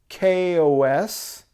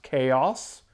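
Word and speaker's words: k-os: song of theirs featuring kos or better pronounce Kaos Kos is a he's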